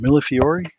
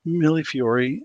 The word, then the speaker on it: Millefiori: It's a I'm going to pronounce this wrong. Millefiori.